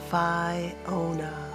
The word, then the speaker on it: Fionna: He moved his mouth in concentration and said, "Fionna," getting the accent on the correct syllable this time.